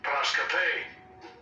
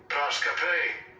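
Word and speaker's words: proskopē: This be the pronunciation in the Greek. Strong's G 4349. Proskape. Proskape.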